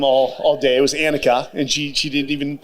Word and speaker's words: Anicka: with her name all all day it was annika and she she didn't even like correct me but when she would pronounce it i would get it annika